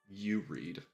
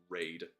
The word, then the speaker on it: YoReid: know what I'm actually I'm fine with all pronunciations of my name that aren't like raid like if if you